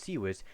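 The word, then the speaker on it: CIWS: wikipedia the free encyclopedia the following series pronounced seawiss is a close-in weapon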